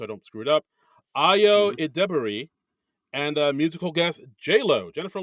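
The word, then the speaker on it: Ayo Edebiri: Because the host of next week's episode, they put it out, is I wrote down how to pronounce her name so I don't screw it up. Ayo Idebiri, and musical guest J-Lo, Jennifer Lopez.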